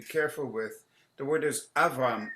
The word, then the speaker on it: Avram: One of the things that readers are to be careful with, the word is Avram, not Avraham, but it's Avram. So you don't pronounce and the other one is Va'avarcheka Ar'eka.